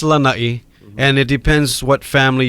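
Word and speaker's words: Lānaʻi: So most people say Lanaʻi. Okay. Yeah, and the only person who actually pronounces my name, my Lanaʻi correct, is Leslie Wilcox, who was with Channel 2, and BJ Penn's mom. Okay. Everyone else says Lanai. But it's Lanaʻi.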